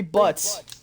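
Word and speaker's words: Butz: Larry Butts. My best friend since grade school. Most unfortunate last name. It's spelled B-U-T-Z.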